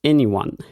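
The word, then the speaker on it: e:Ny1: Euh ouais, c'est ça se prononce anyone ça.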